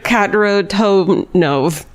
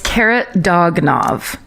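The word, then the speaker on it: Kharitonov: Anna Demidova, Alexei Trump, and Ivan Karatonov, one of his like fucking descendants is so mad at me right now for getting that name wrong. It's Karatonov. Karatonov.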